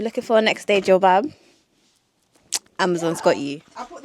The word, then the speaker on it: jilbab: Jilbab. Not a kebab. A jilbab.